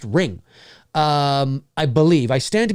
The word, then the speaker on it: Ringu: believe uh it's spelled ringu like ringu but I think I learned somewhere not long ago that it's all it's actually just pronounced ring um I believe I stand